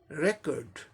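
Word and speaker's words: record: पहले सिलेबल पे स्ट्रेस है, इस यानी पहले सिलेबल को जोड़ देके बोलना है। रिकॉर्ड, रिकॉर्ड, रिकॉर्ड, रिकॉर्ड, रिकॉर्ड, रिकॉर्ड, ऐसे।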